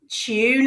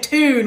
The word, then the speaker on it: tune: You said it wrong. You said tune with T-O-O-N, Summer. It's C-H-U-N-E. Tune out. Like a what? British person. Like a British, hello. Phonetically, they're different. Yeah, they're different. You say tune and I say tune.